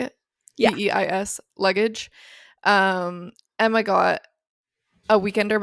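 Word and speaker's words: BÉIS: The base, is that how you say it? Yeah. BEIS luggage.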